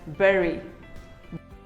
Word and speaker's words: berry: Well, none of them is correct. It is simply pronounced as berry.